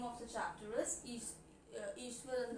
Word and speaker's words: Iswaran: And as all of you know that the name of the chapter is Ishwaran the Storyteller. Some people pronounce it as Ishwaran, which is also acceptable.